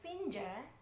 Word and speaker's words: finger: Yang benar adalah finger. Finger. Most Americans say like that. Kalau British biasanya finger. Finger.